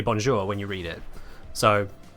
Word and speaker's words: bonjour: same way as you wouldn't read bonjour and go oh uh bonjwa CU it's quite clearly a French word you say bonjour when you read it